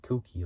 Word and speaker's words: Kouki: Not as in the cookie which you eat, but like cookie, like KOUKI. That's how they say it. That's how they call it in Japan.